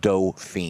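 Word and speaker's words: Dauphine: you but it's a it's a doping it's pronounced do-fine i know but i like dolphin dolphins uh-huh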